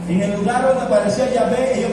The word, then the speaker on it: Yahvé: que es la y H W H se pronuncia el nombre yahvé o el nombre pero los judíos cuando